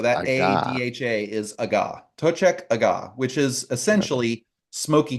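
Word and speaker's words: Toiteach: and Irish or Scots that you're saying it, Tochek is a pretty clear way to say this. Okay. Tochek aga. Pochek aga. Aga. So Interesting. that Aga. ADHA is aga. Tochek aga, which is essentially Smoky 2 or Smoky the Second.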